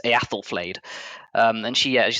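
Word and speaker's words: Æthelflæd: So her name is, it depends who you ask, but sometimes you pronounce it Ethelflaed. In the Old Anglo-Saxon, Old English, it's Eathelflaed.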